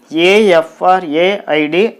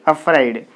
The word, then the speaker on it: afraid: a i d afraid here also there are two syllables ah and for a id fried afraid so here you can find the prefix a if a is the stress is on the second syllable so you put the